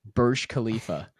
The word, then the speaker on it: Burj Khalifa: resorts and beach clubs spot on on that pronunciation, by the way. By the way, Burj Khalifa.